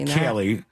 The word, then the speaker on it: Kaeli: Kaeli, and I'm pronouncing that Kaylee.